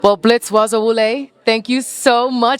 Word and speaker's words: Bazawule: well Blitz waza wle thank you so much did I pronounce that correctly Baza wle I said Baza wle awesome I hear the Z though all right y'all so